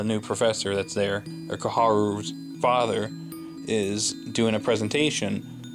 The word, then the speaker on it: Koharu: And Koharu, I'm just going to pronounce it right because I called her Kohara in the last review.